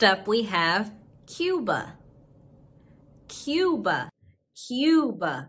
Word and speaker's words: Cuba: we have cuba cuba cuba like a cube and people from cuba